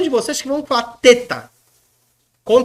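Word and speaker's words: θήτα: é uma letra terrível tem gente que pronuncia para facilitar como feta feta lá na Grécia é assim feta feo Mas é uma língua e a língua pega nos dentes e sopra tem que soprar ó feta lembra da t lía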